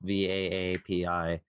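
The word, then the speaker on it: VA-API: I think you pronounce it VAPI. It's VAAPI, and it's like a hardware acceleration package.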